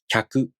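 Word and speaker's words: きゃく: Let's practice pronouncing Kyu, Kyo using some real words. Repeat with me. Kyaku, Kyaku. Yakyu, Yakyu. Kyo, Kyo.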